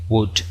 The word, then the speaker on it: would: Tampoco la L suena aquí, would, ¿vale? Que es una U corta, que lleve OU, ¿vale?